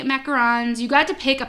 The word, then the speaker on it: macaron: So you got 3 macarons, right? Those are macarons, not macaroons, right? Right. Okay, macarons. Oh wait, I'm looking at the wrong thing, but still right. Yeah, 3 macarons.